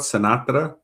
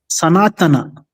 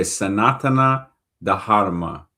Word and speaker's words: Sanatana Dharma: dharma dharma okay how do you say the first part sanatra sanatana sanatana okay sanatana dharma okay sanatana dharma